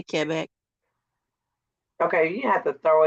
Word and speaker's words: Québec: Quebec, because I say Quebec because that's how we were taught growing up. Quebec. Well, you're not saying it wrong. You're just saying it in the English. En français, En français, c'est Québec.